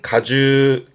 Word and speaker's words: 果汁: 발음은 가주. 그래서 과즙의 즙자가 되겠습니다. 과즙의 가주고요.